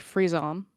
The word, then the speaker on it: frisson: So, it's actually pronounced frisson. So, it's I think it's a French word.